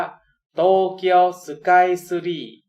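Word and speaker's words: 東京スカイツリー: เรียก โตเกียว สกาย ทรี ภาษา ญี่ปุ่น ออก เสียง ว่า โตเกียว สกาย ซู รี่ โตเกียว สุด ท้าย เฟอร์รี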